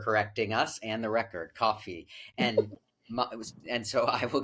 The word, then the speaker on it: Kofi: And my name is phonetically Kofi, but it's really pronounced coffee, like the drink.